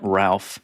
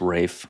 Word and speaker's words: Ralph: We got Ralph and his fines of which there are many. He is fine. Mhm. I know it's Rafe. Stupid name. I'm just calling it. Yeah, that's how you pronounce it.